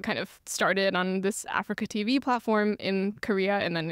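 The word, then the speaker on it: AfreecaTV: hosted on is called Africa TV, which is a Korean-specific live streaming platform. Interesting name. Yeah, it's spelled like A-F-R-E-E-C-A, which is a combination of the words A free broadcasting.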